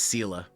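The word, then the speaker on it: Seele: Yeah, it's Sela. Even though it doesn't make sense. But that's how they pronounce her name.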